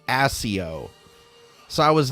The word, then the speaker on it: Accio: summoning charm they said Akio and it's not pronounced accio it's pronounced assio so I was not